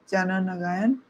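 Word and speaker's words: Jana Nayagan: we finally got a date and it is Jana Nagayan. Janag. Yeah. Yeah. Yes. That is the right pronunciation.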